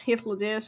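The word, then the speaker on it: Hythlodaeus: I spent like 2 years saying Hythlodeus, and it's Hythlodeus, and I'm really, really, really sorry.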